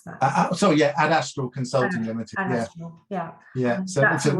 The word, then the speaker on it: Adastral: How do you pronounce that? Adastral Consulting Limited.